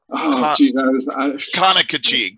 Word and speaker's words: Conococheague: Conococheague. There's your pronunciation.